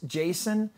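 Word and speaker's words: Jashin: Now, can we bring the card back up to introduce Jason? Because the spelling of your name is different. It's very unique. It's J-A-S-H-I-N. Yes. But it's pronounced Jason.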